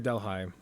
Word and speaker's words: Delhi: Delhi, and revolves, or is it Delhi or Delhi? I've heard it pronounced both ways.